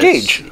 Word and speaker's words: Gauge: And we let Tommy do the intro because I was a little bit scared that I would say your name wrong. It's Gauge.